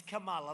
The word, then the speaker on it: Kamala: pronounce your name right it's kamala like a comma call mala and yet she pronounces